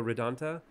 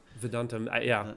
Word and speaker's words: Vedantam: Hidden Brain with Shankar Vedanta, which is a Shankar Vedantam. Vedantam, there you go.